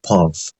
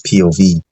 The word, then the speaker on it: POV: I used to think instead of POV you pronounced it as pu I realized that it's POV and I just felt really stupid for some